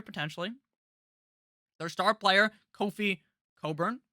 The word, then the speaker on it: Cockburn: their star player kofi coburn his name looks like coffee kofi cockburn but that's not how you say it funny jersey to